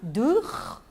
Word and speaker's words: Dürer: Cujo autor é o Alfred Dürer, assim que se pronuncia? Cláudia? Dürer.